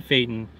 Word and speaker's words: Phaeton: A 2017 TIFFIN Phaeton 36 I said it right the first time.